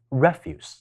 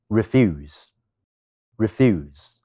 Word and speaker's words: refuse: 喺第一音節，讀成 refuse，就會形成咗一個名詞，意思係指廢物。